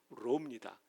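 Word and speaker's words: ρ: 이게 P가 아니라 R 발음 나는 로입니다.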